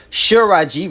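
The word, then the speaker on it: Tsalagi: The word for Cherokee was originally pronounced Shiraji with an R in the Southern lower dialect before it went extinct, but changed to Shalaji with an L in the dialects that survived.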